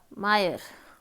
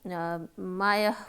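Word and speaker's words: mire: American जो pronunciation है हमारी उसके अकॉर्डिंग ये शब्द है हमारा मायर, और जो हमारे पास ब्रिटिश होती है उसमें हम इसको मायह बोलते हैं, मतलब आर थोड़ा साइलेंट जैसा रहता है।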